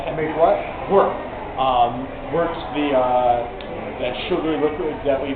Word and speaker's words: wort: Wort's that sugary liquid that we made with the how do you spell it? W-O-R-T, but it's pronounced like W-E-R-T.